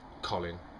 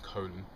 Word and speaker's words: Colin: and we know that it's pronounced Colin not as is more popular in America colon um that joke amused